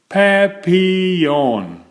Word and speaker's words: papillon: You say it like this: papillon. In French, it means butterfly.